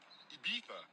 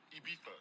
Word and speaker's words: Ibiza: I just went to Spain, that's Ibiza. Ibiza. Yeah, it's pronounced Ibiza, actually. What's the difference, man?